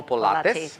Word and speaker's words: Pilates: And it's called Acro Pilates. Yes. All right. Thanks for pronouncing it correctly, because a lot of people say Pilates, Pilates. Pilates, Yeah, because Pilates. Pilates like Pilates on a pole.